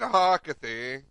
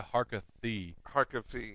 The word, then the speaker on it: Harkavy: Harriet Harkavy from the. Are you ever gonna say her name right? Is it You went from Harkavy to Harkathy.